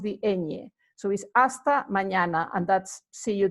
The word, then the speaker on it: hasta: soon you would say hasta pronto as you can see you know we don't pronounce the H hasta pronto hasta luego that